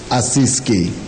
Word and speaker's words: Ассизский: Святой Франциск Ассизский.